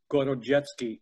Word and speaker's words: Gorodetsky: Gorodetsky is the way it would be pronounced in Russian.